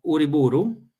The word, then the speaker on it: Uriburu: ¿Se pronuncia el apellido así, Uriburu? Sì, è stato durante la dittatura di Uriburu.